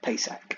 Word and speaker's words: Pesach: briefly covered in the uh festival passover or pesach i think is the right pronunciation in the hebrew so the actual marriage